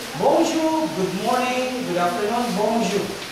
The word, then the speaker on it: bonjour: For example, if I say bonjour, good morning, good afternoon, bonjour. Bonjour, did I say pronounce that as bonjour? It is not bonjour, but bonjour. Bon, bon, bonjour, bon. The on is on.